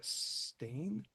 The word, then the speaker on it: Stein: Alexandria Stain. She spells it Stein but pronounces it Stain.